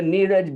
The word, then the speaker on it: Niraj: nirish which is that sorry i call you everybody says niraj right i have to figure that one out you pronounce my name like my mom you pronounce my name